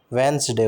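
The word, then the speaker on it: Wednesday: बिल्कुल, वेंसडे होता है वेंसडे, तो इसका होना चाहिए वेंसडे। देख लेते हैं। हाँ, the first D इन वेडनेसडे, वेंसडे is silent, it's pronounced वेंसडे।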